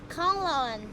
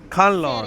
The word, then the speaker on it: Kanlaon: How you pronounce the name of this city? Kanglaon. Khanlaon.